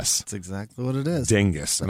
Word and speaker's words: Dingess: exactly what it is Dingus and I looked up how to say it it's Dingus it's not dingess or some [ __